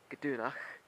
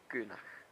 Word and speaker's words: gdúnach: So instead of gdúnach, you pronounce it gúnach.